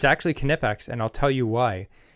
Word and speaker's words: Knipex: It's pronounced Nipex. Oh, let me tell you a story about that quick. Nipex or Knipex? It's actually Knipex and I'll tell you why.